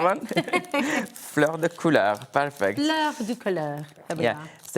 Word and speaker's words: fleur de couleur: How is the pronunciation? Exactly. Is that all This right? one, fleur de couleur, perfect.